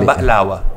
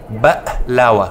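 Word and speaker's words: baklava: Se chama baklawa, em árabe, né? Não, quero aprender a falar. Como é? Baklawa. Baklawa. Isso, te dou um 8 e 9 nessa pronúncia.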